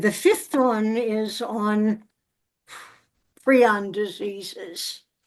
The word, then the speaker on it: prion: is on pron diseases I keep trying to say prion because that's an alternate pronunciation that I used to use when it was strictly in my written vocabulary and then when I heard people talking about it I figured out that prion was the preferred pronunciation so do we have